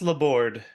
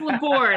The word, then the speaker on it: Laborde: pronouncing that correctly just La board just La board I keep doing that Gant La okay so the E is silent everyone yes yeah it's a it's classic French so it's as annoyingly